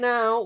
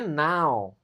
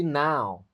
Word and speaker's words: now: Right now we are practicing English together. Right now, ingat ini juga nih cara bacanya now bukan no, tapi now.